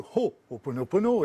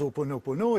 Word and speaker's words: Ho'oponopono: eux, le Ho'oponopono, le Ho'oponopono, et tu l'as très bien dit, Karine, très bien prononcé, mais nous on le dit à la française, Ho'oponopono, et bien il était incorporé dans la pensée Aloha, Aloha.